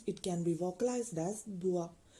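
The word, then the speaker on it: bror: brother in Danish it can be vocalized as bua b r o r bua next word is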